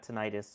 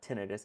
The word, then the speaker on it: tinnitus: No, yeah, a lot of people now have tinnitus or tinnitus, depending on how you pronounce it. Apparently both are acceptable, so don't come at me for that.